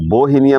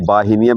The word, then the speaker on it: Bauhinia: यह जो बाहु है इसको बहिनिया भी बोलते हैं बाही नियम भी बोलते हैं बहिनिया भी बोलते हैं ओके जो भी आप प्रोनाउंस करें इसके फूलो पर आप